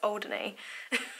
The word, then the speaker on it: Alderney: I always say it wrong. It's Alderney.